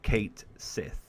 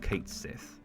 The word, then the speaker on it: Cait Sith: or Ki okay so all of my life and all of a lot of people's lives if you lived in the west probably pronounced and I say probably because not everyone did but probably announced a a certain character in Fantasy 7 as Kate Sith so let me sh